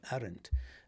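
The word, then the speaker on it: Arendt: Her name, by the way, is is spelled A R N D T. Arent.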